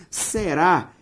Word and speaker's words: será: Será tem como sílaba tônica a última, ou seja, uma oxítona.